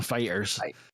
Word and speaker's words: Foo Fighters: was like you know where's the accent is on food or Fighters and he's like oh it's actually on uh it's actually on Fighters and Dave Grohl does